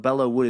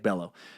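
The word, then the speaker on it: Belleau Wood: would oh there he goes he says but Bella would is pronounced like Bello and third Peleliu is pronounced like pay Li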